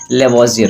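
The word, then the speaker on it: Lavoisier: तो रसायन विज्ञान का जनक माना जाता है लेवासियर को। ठीक है? कहीं-कहीं आपको लेवास ही मिलेगा। कहीं-कहीं आपको लेवाज़ियर मिलेगा। ठीक है? तो इस प्रोनाउंसिएशन से आपको परेशान होना नहीं है।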